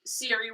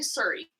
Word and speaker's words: Siri: Most of them because you always say Siri wrong. Siri. You say Surrey. Surrey? You constantly say Surrey.